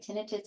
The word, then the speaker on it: tinnitus: Tinnitus. No, that's okay. You can say it either way, tinnitus or tinnitus.